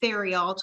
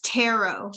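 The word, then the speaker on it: Therriault: to pronounce his name because I know it's French. So I was saying it Theriault, which is our villain there, but I believe it's Tarot.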